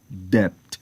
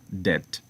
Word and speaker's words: debt: Some may include the b sound as in death, but the correct pronunciation is not depth, rather death.